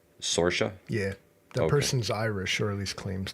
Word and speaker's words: Saoirse: Now, you know how you pronounce that? Saoirse. Saoirse?